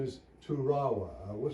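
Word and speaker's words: Toorawa: at Yale University uh his last name is turawa I will spell it for you t o o r a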